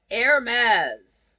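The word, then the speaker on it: Hermès: like the fashion house the H is silent and the last s is a z you don't say that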